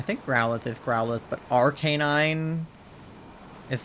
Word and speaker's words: Arcanine: growth is growth but Arcanine is like Arcanine Arcanine I think you're supposed to like lengthen the a a little more I just say Arcanine